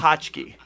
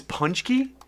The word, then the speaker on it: paczki: potchki. I looked it up this morning. It's punchki? yeah, there's an N sound in there.